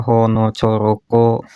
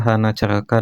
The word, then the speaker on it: hanacaraka: ka dibaca ka kalau di aksara Jawa kan dibacanya honoroko dot sowolo kan gitu kalau di aksara Sunda cacerakan dia hana ceraka data sawala a semua ini pun